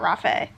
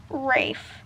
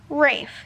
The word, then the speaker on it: Rafe: shalt pronounce thy name Rafe and what sounded like he said Rafe Rafe he says again rhymes with safe or chafe like Rage with an F got it kind of